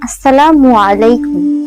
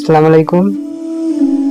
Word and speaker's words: আসসালামু আলাইকুম: আবার কি বিষয় সালামের সঠিক উচ্চারণের ব্যাপারে আমি তো বলতে পারি দেখো সালামু আলাইকুম সালামু আলাইকুম তো ভুল উচ্চারণ এর অর্থ উঠে নারী